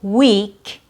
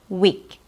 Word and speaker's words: week: The long E sound is mispronounced when it's not long enough. So for example, in the word week, which has a long E sound, E, that's the proper way. A mispronunciation would be making it too short, week, 1 week, 1 week. That's too short. 1 week is correct.